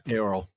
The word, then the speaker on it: Eorl: modern word Earl, but I think it's actually pronounced more like Eorl. Eorl. Yeah. Yeah, it's not a diphthong like Eorl. It's they're not separate, but it's like they run together.